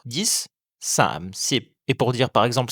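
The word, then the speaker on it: สิบ: Enfin, le 10 se dit SIP. Facile à prononcer, rappelez-vous juste que le P met fin au son.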